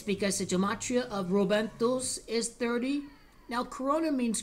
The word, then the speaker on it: Rubentus: The pronunciation in Italian. Rubentus.